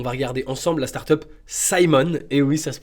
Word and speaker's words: Symone: de Simon alors déjà 10/ 10 pour pour la prononciation dans la vidéo ça se prononce Simon donc assez assez incroyable